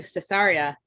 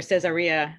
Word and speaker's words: Caesarea: exciting deep dive into caesarea or cesarea no matter how you pronounce it it's a beautiful location